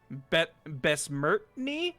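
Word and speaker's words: Bessmertnyy: From Raven Harrows, we've got Besmertny, that is spelled B-E-S-S-M-E-R-T-N-Y-Y.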